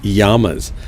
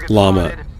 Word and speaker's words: llama: he started calling llamas yamas and we thought what and finally I said dad what do they call what do they how do they pronounce llama in Guatemala he said llama then I said why